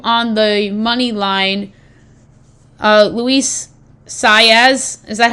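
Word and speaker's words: Luis Saez: Uh Luis Saz, is that how the correct pronouncing of the jockeyy's name?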